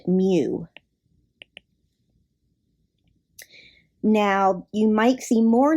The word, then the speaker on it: mu: the population mean and the way that you pronounce that m i'll put it in quotations here it's pronounced mu now you might see